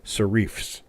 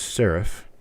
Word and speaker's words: serif: little points on the ends of the letters sharifs but it is not shif it is sarif Sharif is not even an accepted pronunciation of the word and anyone who pronounces s r i f as shareif is wrong it is sarif I learned it